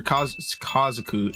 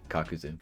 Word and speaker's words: Kakuzu: this mask is actually um Kabuto's m or Kazaku Kazak, but it's Kakashi's uh clothes with Kazaku's mask. Yeah, Kakuzu. I'm going to get flamed. Comments, don't flame me for the mispronounce. Kakazu.